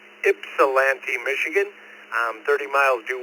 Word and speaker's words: Ypsilanti: It's pronounced Ypsilanti, Michigan.